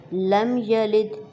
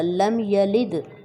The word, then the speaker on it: لم یلد: لم یلد، اس کو عام طور پر کھینچ کر پڑھا جاتا ہے، تو اس کو بالکل بھی کھینچ کے نہیں پڑھا. دال ساکن ہے، اس وجہ سے وہاں پہ قلقلہ ہوگا.